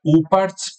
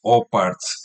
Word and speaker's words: OOPARTS: De hecho, en inglés, como es doble O, es OOPARTS. En inglés se pronuncia UPARTS por la doble O y en español lo leemos OPARTS.